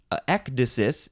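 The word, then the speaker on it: ecdysis: spelled with a c instead of a k ectasis is how you pronounce it in English at least uh this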